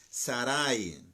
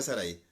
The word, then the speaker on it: Saray: bueno si no mira la respuesta es saray no es ahora y de acuerdo a la versión 60 no de sara y tal vez en alguna versión aparezca ya con acento en la que diga estar ahí pero dice sara y saray y génesis capítulo 16